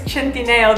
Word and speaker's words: Centineo: Even him, I feel like it's Centineo because he's Italian.